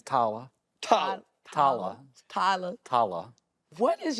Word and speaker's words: Tyler: Yeah, the right way to say my name is Tala.